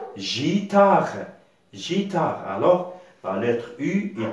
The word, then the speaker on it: guitare: vie la voyait une alors comment ça commence à se prononcer elle va se prononcer gitard jta alors pas l'être